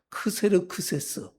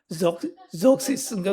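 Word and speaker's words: Xerxes: 바벨론의 거의 마지막 때인데 아하수에로는 우리에 중고등학교 역사 때 이상한 발음 크세르크세스 예도 영어 발음으로는 한번 해 주세요. 예 적시스인가 그래 적시스 그 너무 웃겨요. 영어는 영어는 적시스 예 또 역사책에서 크세르크세스 그리고 성경에는 아하수에루 아하수에로가 누구예요?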